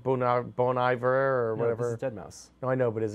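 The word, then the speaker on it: deadmau5: bone Iver or whatever dead mouse no I know but is it a crazy pronunciation why is it Mouse it's a five at the end well he's crazy so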